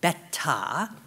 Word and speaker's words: Beta: So Shaz tells me I've been mispronouncing the name of this product all along. It's called Beta.